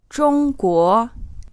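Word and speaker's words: 中华: promise or - promise drunk war means China and the correct way to say the word for China is using a first tone and then a second tone bow core means including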